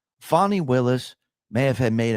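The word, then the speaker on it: Fani: one prosecutor engaged by Fanny pronounced fonnie Willis to persecute Trump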